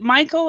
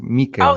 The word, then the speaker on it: Mikel: And remind me, is it Michael or Mikkel? How do I Mikel pronounce is Mikkel? Mikel is a Mikkel. name in Basque. Our language is Basque. Mikel.